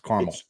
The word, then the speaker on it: caramel: and just like caramel it's not caramel it's caramel it's two syllables caramel that's it I'm a southern